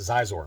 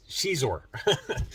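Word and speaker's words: Xizor: appearance of prince zizour i mispronounced his name against caesar is how uh a couple of subscribers have told me uh you pronounce what i've thought was a zeiss or but it's she's or so this is shadows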